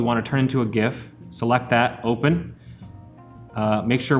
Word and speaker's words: GIF: Before we get into all that, let's take a little deep dive into the history of the pronunciation of GIF.